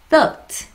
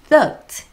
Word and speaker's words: thought: thought. 다시 뭐라고요? thought. 그죠. 요거 약간 발음이요. 뜨뜨뜨 이렇게 납니다.